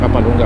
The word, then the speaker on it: Capalonga: Santa Elena to Capalungga bypass road. Yun yun ang tamang bigkas.